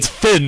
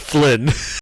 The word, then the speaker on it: Finn: No, it's Finn, not Flynn.